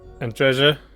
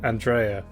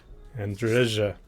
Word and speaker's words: Andreja: Here's Andreja, which I think is the correct pronunciation. I keep wanting to call her Andrea, but I don't think it's a Spanish J. It's a Andreja.